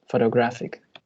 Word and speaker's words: photographic: Photographic. Photographic. Well, you are absolutely correct. Here in this case, we have a secondary stress in the first syllable, but the primary stress is in the third syllable, photographic.